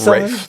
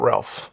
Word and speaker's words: Ralph: Imagine him Rafe. My name is Rafe. Fuck you, I'm not Ralph.